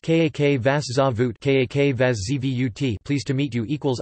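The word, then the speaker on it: Как вас зовут: Pronounced Kak Vas Zavut, Kak Vas Zvut, pleased to meet you equals Asin Priyatno, pronounced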